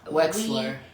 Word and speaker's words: Wexler: I always have a trouble to pronounce Wexler. V and a W.